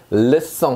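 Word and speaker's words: leçon: 약송 이렇게 돼 있는데 자, 요 발음이 지금 쌍숏 발음이라 송 발음이 나고 있죠. 약송. 이 녀석은 소년이란 뜻이고요. 르송 하면요, 수업이란 뜻입니다.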